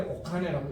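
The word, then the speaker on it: お金: 카네인데 옥카네라고 읽어요.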